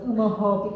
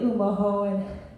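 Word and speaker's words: Umoⁿhoⁿ: They called them Omaha instead of Umaho because it's a nasal. They use the nasal part of the pronunciation. So they just said it probably was easier. But it's really Umaho, and the film's going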